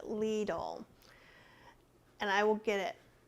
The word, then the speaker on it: Lidl: a good write out how i'm supposed to pronounce it leedle and i will get